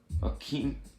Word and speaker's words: Akeem: It was either Bill or Jimmy, but they said Akeem rhyme with a Hakeem Olajuwon.